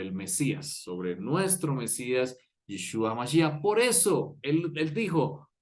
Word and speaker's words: Yeshua: En hebreo se lee Yeshua.